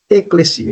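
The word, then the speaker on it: ekklesia: palavra igreja no grego no texto grego é a palavra eclesia e pronuncia-se eclesia então nós temos aí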